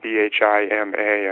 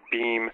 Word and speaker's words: Bhima: It's spelled B-H-I-M-A. I think they usually drop the A off on his name, Bhima or Beam.